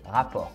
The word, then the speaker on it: rapport: 일단 라포르라는 말은 원어민 발음으로 rapport 이렇게 R 크게 이렇게 할 필요는 없고 rapport.